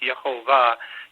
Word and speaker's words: Yahovah: Hebrew is usually emphasizing the last syllable so it's yahovah you'll notice that's very close to Jehovah one of the main